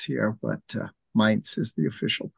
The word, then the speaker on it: Mainz: So we also say Mainz here, but Mainz is the official pronunciation.